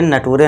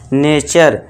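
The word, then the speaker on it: nature: Rule apply करना है, कहां पे आपको कैसे उच्चारण देना है। ठीक है दोस्तों? तो यहां पे इसलिए इसे नटूरे नहीं पढ़ना है आपसे। ठीक है दोस्तों? रूल के अकॉर्डिंग अब यहां पे क्या पढ़ना है आपको? नेचर।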